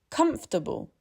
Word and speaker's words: comfortable: English says, comfortable. Two of those vowels are gone.